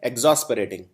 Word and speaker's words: exasperating: सबसे पहला है एग्जॉस्परेटिंग। याद रखिए शब्दों का उच्चारण भी बहुत जरूरी होता है।